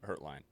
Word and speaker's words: Hertlein: That Alex Hurst, did I just say your name wrong? Hurtline.